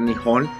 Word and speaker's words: Nihon: En realidad no se debería decir Japón, se debería decir Nihon.